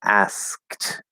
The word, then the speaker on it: asked: and um an asked it's spelled e d but it's a t sound because the e is